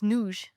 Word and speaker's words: nudge: So, it's pronounced um it's a it's a Yiddish word. Oh, and it's noojs.